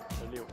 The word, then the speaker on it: Léo: L-E-O. L-E-O, donc ça se prononce. Léo.